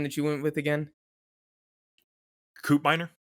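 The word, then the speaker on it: Koopmeiners: the guy's name that you went with again coupiner coupe miner that's how you say it okay i felt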